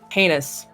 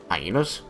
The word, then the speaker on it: heinous: I almost said heinous instead of heinous. That should be a $5 word. Hyenas? Heinous. Jackalope. Heinous. Now I'm second guessing my own pronunciation. No. It's because you said highness the first time, so I said hyenas. I started saying highness, and then I went, wait, no, that's not correct. Heinous.